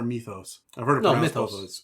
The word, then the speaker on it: mythos: Again, mythos or mythos? I've heard it pronounced both ways. I've heard it pronounced both ways. Have you? Oh, yeah. A lot of people say mythos, especially in Europe.